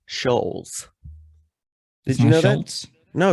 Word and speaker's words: Schulz: guy's name andrew schultz andrew you said schultz it's shoals did you know that